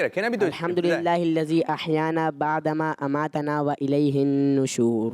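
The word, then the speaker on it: الذي: کوشش کر لیں کہ اس کی تلفظ بھی ہمارے ہاں ادائیگی پہ آپ تھوڑا سا توجہ فرمائیں. الحمدللہ الذی اطعمنا.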